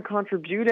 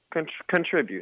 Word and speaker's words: contribute: Why are you putting your time and day into someone who's not going to contribute anything? Well, contribute, not contribute. Contribute. You put the emphasis on the wrong syllable.